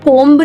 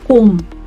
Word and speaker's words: comb: जब भी MB पे कोई भी word खत्म हो रहा है ना, तो उसमें B silent है. जैसे कि मैं इसको comb नहीं बोलूंगी, मैं इसको बोलूंगी comb. Alright, B is silent.